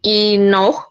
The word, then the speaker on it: enough: Kemudian next enough, nah jangan lupa itu enough, dah dibaca akhirannya GH dibaca F.